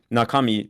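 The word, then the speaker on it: 中身: Like know that like nakami is nakadaka and when you hear nakami try to be like was that actually nakadaka?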